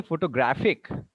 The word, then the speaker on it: photographic: And if you say photographic, where is the stress? Photographic. The stress is now on the graph.